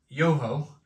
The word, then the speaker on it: JoeHoe: plays on Dutch Birds joho pronounced Yoho is a play on words on the sound an owl makes in Dutch oh um for all